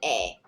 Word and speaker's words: 의: But when 의 is acting as a possessive particle, like a first example, then you pronounce it 에, like 친구의 차, not 친구의 차.